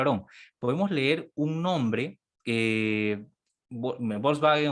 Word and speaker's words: Volkswagen: Eh, nosotros le decimos Volkswagen, pero en Alemania se dice Volkswagen. Ahí está. Claro. La V se pronuncia como F.